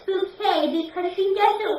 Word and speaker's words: Bucket: Bucket," and she says, "No, it's Bouquet," because she doesn't like to be pronounced Bucket, don't you?